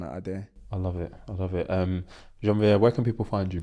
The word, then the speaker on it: Janvier: You know, I'm so used to explaining my name because every time I tell someone my name is Janvier, like Jean-Pierre.